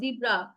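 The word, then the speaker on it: zebra: আরে ভাই, এটা কঠিন কিছু না, এগুলো আপনারা অলরেডি পারেন, টাইগার, লায়ন, জিব্রা। হ্যাঁ, আমরা এটাকে জেব্রা বলি, বাট এটার অ্যাকচুয়াল মানে ব্রিটিশ আমেরিকান নর্মালি উচ্চারণ করে জিব্রা, বাট এনিওয়ে।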